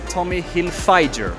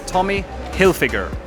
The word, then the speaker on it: Hilfiger: Aquí en Latinoamérica mucha gente dice Tommy Hilfiger, pero es Tommy Hilfiger. Es un nombre. Entonces por eso creo que se pronuncia así.